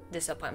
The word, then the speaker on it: Dusapin: I think it is pronounced Dusapin because it's French.